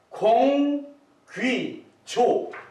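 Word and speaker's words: γογγύζω: 그 감마는 기역 발음이 납니다. 기역. 그래서 공, 귀, 조 이렇게 된 게 Z 발음이 나거든요. 공귀조.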